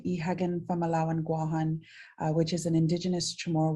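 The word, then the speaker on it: Guåhan: the territory of Guam, or Guahan, as it should be pronounced.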